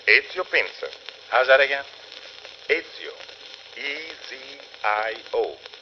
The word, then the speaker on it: Ezio Pinza: Is that the way you pronounce it? That is right. Ezio Pinza. How's that again? Ezio. E-Z-I-O. Ezio. Pinza.